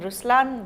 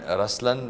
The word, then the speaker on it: Ruslaan: oh yeah okay so even in raslan when you say raslan also means the line it's the attitude of but the right pronunciation is Ruslan okay there is so